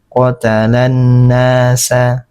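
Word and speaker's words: قتل الناس: Jadi cara membacanya langsung pada huruf nun tidak terbaca lagi huruf lamnya ini. Nah, qotalanasa qotalanasa. Nah, jadi begitu lamnya tidak terbaca.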